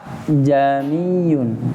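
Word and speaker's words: جميعا: Nah, yang keduanya, hamzah yang keduanya A. Nah, jadi kayak ada yang turun. Jamiyun. Jadi yang tadi buka jamiyun. Jadi agak sedikit turun.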